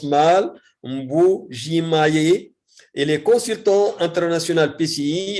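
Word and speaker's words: Mbuji-Mayi: Il est assistant à l'université de Maya. Attendez, parce que toujours je le prononce mal. Mbujimaye.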